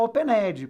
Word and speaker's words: opened: agora não tem opened nada de falar opened por qu porque eu não pronuncio o n aqui ô Perdão eu não pronuncio o e aqui só para um cículo